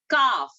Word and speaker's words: calf: Calf. CALF, calf. Okay, now I'll tell one word. I'll just spell that out.